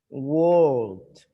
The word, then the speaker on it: World: World. No es world. World. World. World. Termina en una T suavecita. World. World. Se pronuncia la L.